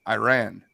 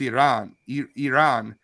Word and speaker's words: Iran: Our country is Iran, not Iran.